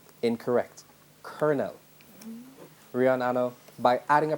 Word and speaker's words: colonel: and c ll rihanna pronounce the word which is spelt c OU l Oh N question passes yes please call it Colin L incorrect colonel Rihanna no by adding a prefix give the